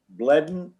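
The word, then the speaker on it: Bledin: agenda uh rosenthal and bledden is am i pronouncing that right bledden b-l-e-d-i-n steep slopes permit on center road yes that is correct oh good okay okay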